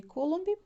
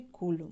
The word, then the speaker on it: Coulomb: na verdade eu li charles augustin de coulomb não porque uma pronúncia a portugueza da né porque no francês seria charles augustão de colon e o colombo ele